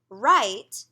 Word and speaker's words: write: If you have a WR, like in right, you can cover the W and just say the sound.